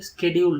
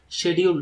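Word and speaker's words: schedule: American இங்கிலீஷ்ல ஸ்கெட்யூல் ஆக்சுவலா இந்த ஸ்கெட்யூல்ங்கிற வார்த்தையை ரெண்டு வகையா நம்ம உச்சரிக்கலாம் சரிங்களா ஸ்கெட்யூல்ங்கிற வார்த்தைய அமெரிக்கன் இங்கிலீஷ்ல உச்சரிக்கும் போது ஸ்கெட்யூல் அப்படின்னு உச்சரிக்கணும் பிரிட்டிஷ் இங்கிலீஷ்ல உச்சரிக்கும் போது ஷெட்யூல் அப்படின்னு உச்சரிக்கணும் சரிங்களா ஓகேங்களா நம்ம உங்களுக்கு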